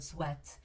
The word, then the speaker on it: sweat: we have the word sweat it's not sweet actually it's it's pretty much similar to the word sweet but it's sweat and sweat here means